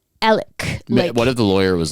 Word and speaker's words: Alex: by Alec like it's it's spelled Alex but you pronounce it like elk what if the lawyer